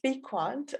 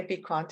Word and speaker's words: Bequant: wonderful to be here and yes it's it's pronounced be quant although we've had loads of different pronunciations depending on the region of the world that people are from but yes i would say be quant is the correct one okay great and um